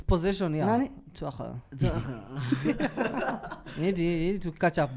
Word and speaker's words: Tuchel: Tuchel. You need to catch up, man. He's been in the league for almost 3 months. You need to pronounce his name properly. No, it's Tuchel. See Tuchel.